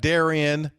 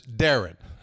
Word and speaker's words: Darian: all right so it looks like Daran the way that it's spelled but it's Darren all right it's Darren